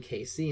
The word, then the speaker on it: Cayce: man in his outfit who pronounced his name Casey and spelled it c-a-y-c-e this turned out to